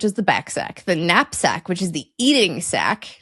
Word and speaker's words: knapsack: So it would be knapsack.